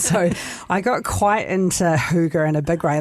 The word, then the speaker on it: hygge: So Hygge like rhymes with cougar. Right, so that's that Danish. That Danish word. I thought it was like huggy.